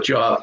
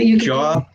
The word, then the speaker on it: Job: Job, polish, and herb are all pronounced different when the first letter is capitalized, because now you're Job, Polish, and herb.